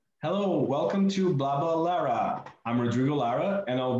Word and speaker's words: BlablaLara: I want to pronounce it with BlablaLara. BlablaLara.